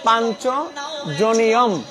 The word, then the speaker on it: পাঞ্চজন্যম: লেখা আছে কি পাঞ্চজন্যং আমরা জানি সংস্কৃতে উচ্চারণের পরিবর্তন হয়ে যায় সেটা হচ্ছে পাঞ্চজনিয়ম আমি এখন উচ্চারণে চলে যাব তোমরা সবাই যারা বলছো এটা হচ্ছে পাঞ্চজনিয়ম এটা হবে পাঞ্চজনিয়ম ঋষিকেশ দেবদত্তম ধনঞ্জয় পৌণ্ড্রম